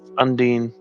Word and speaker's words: Undine: Yes, Undine. Undine. Okay. I just did a search on how to pronounce it.